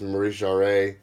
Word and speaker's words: Maurice Jarre: says Maurice Jarre or I always mispronounce this one out of it's Maurice RA but really really cool